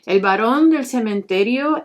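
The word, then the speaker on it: El Barón del Cementerio: san elias i'm going to pronounce his name in spanish i'm not going to be saying elias or baron because that's no how i refer to this saying el baron del cementerio is here to revoke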